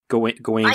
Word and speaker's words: Gawain: would do for instance how do you say Gawain Oh going yeah going south in an agreement yeah that's what that's how we're gonna choose to pronounce it like that is like okay so